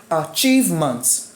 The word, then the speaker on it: achievement: Meaning that the triangle turns upside down and the stress is now on the second syllable, which is achieve. So if I even add ment or not, the stress will still be on achieve.